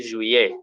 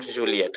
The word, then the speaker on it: juillet: Now that one pronounced as Y. So we say juillet, not Juliet.